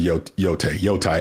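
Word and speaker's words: Yōtei: But what I did get to play was Ghost of Yotai. I never say it right. Yotai, you're fine.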